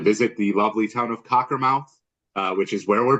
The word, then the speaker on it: Cockermouth: of that town again it sounds exactly it's spelled exactly as it sounds Cocker mouth one word talker mouth um I